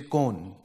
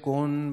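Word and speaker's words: कौन: Like the first time I came to Delhi for Kaun, which is who, I used to say Kone. And my Hindi teacher said, Kaun will be found in Kataria sir's maths class.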